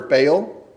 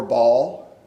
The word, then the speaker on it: Baal: um now follows after Baal or ball those are the two English pronunciations for that uh Hebrew phrase or uh um a